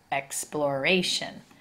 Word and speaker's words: exploration: accented more emphasis but when we add the suffix shun and we add the letter a and take out the E it changes to exploration exploration we start to accent that third syllable so it's a change